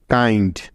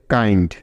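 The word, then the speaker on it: kind: সুতরাং নিয়ম অনুযায়ী এখানে আই ভাওয়েলটার উচ্চারণ লং হবে, অর্থাৎ আই হবে, কারণ আই এর লং সাউন্ড আই হয়, তাই। তাহলে এই শব্দটার উচ্চারণ হবে কাইন্ড।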